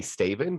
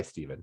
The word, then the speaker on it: Stæven: your name again uh it is phonetically staven but i go by steven so yes and last